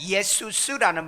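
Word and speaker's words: Ἰησοῦς: 그런데 이 헬라어로는 예수라는 것, 원 발음은 예수스라는 말인데 그냥 예수 그렇게 하시면 돼요.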